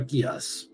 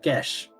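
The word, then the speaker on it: geas: You're under a Gias. I said it wrong. Half Gesh.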